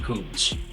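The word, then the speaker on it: Kunz: You spell his surname Kuntz, and I'm pretty sure you pronounce it Kuntz.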